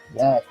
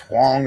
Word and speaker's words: Huang: Nah, you know, I will watch some of those, you know, when Andrew Wong, I think it's pronounced Huang or something, like Andrew Huang.